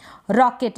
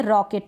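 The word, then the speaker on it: rocket: Next है एल का ल, रॉकेट, इसको पढ़ेंगे रॉकेट, रोकेट नहीं पढ़ेंगे, रॉकेट पढ़ेंगे, क्योंकि ये जो ओ है ना इसका उच्चारण अ हो रहा है, ओ नहीं हो रहा, अ, रॉकेट, रोकेट नहीं हो रहा।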